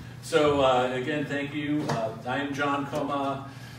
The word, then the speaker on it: Choma: again thank you time John coma spelled with an H but pronounced coma the I'm just a